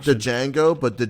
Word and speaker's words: Django: to say not the django but the django might be a good one yeah no i think the best come from pulp fiction the d is silent no dj mango it's